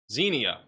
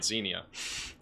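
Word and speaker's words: Xenia: Zenia, I have to keep going to Google pronunciation to get Zenia.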